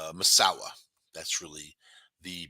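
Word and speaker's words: Masau'u: basically all sounds like massau m m but pronounced masawa that's really the pronunciation they also call him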